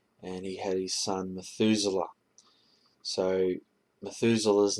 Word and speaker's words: Methuselah: Methuselah. So that's how Methuselah, his name is pronounced in English Methuselah, but in Hebrew it's Methuselah.